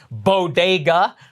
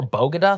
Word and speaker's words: bodega: breakfast tacos and not being able to pronounce bodega which is crazy i mean if you've never been in new york city before bogota like what is happening yeah listen we could